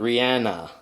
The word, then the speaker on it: Rhiannon: If you don't remember her name is Rihannon. Now, Rihannon, or you can pronounce it Rihanna, is actually no longer just a rock song.